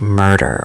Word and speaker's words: murder: Murder, is like the ultimate American R workout. Say it slowly. Mur-der. Both syllables have that R color. If you can say murder without a British or Spanish or French accent creeping in, you're winning.